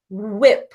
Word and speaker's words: whip: when did you rip so it's not rip and it's not wipe its whip so we have whit3